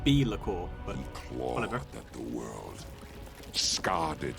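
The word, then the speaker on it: Be'lakor: the first demon prince bellacor that's actually pronounced be liquor but whatever the world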